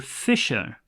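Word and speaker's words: fissure: along a 15 km fisher fisher near the town Fisher strange pronunciation in spelling what is a Fisher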